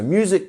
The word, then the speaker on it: music: So music can often elevate your mood. Music has a lengthened U sound, mu, and then we also have our punctuation here, which is making the first syllable a stress syllable.